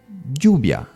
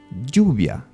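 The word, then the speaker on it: lluvia: y letter for example another one juia rain juia so the two L's are pronounced as or it depends on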